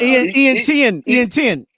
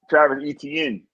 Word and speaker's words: Etienne: Oh yeah, Ian Tien. How do you say his name? Ian Tien. Travis Etienne.